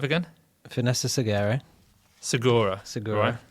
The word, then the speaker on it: Segura: Segura. Segura. Right? Yeah. Um, Like Tom Segura, the comedian.